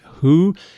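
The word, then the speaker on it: Hooe: around the village of who which is spelled h-o-o-e which i swear sounds like hui but running in some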